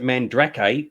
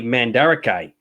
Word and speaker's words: Mandarake: Well, one thing I'd be blown away is you've pronounced it Mandrake, but you've missed an A. So it's actually Mandarake if you're going to spell it phonetically. I've only heard it pronounced Mandarake, but you could be right. But the way it's spelled, it's Mandarake, or because you're missing the middle A up the top here.